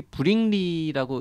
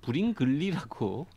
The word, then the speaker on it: 브링리: 일단 전 궁금한 게 이게 브링리라고 읽는 게 맞겠죠? 어떤 문서에는 브링글리라고 적혀 있기도 하던데 브링리겠죠. 브링리가 맞을 것 같죠?